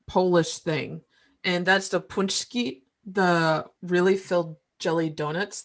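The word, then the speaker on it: pączki: Indiana that makes authentic punchki. So, but I've seen them in Kroger, and when you look at them, it looks like it says Patsky on the label, but it's pronounced punchki.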